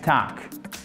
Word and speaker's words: talk: Ça s'écrit comme ça. En phonétique, c'est juste un entre le A et le O, mais en tout cas, c'est une voyelle longue et le L ne se prononce pas.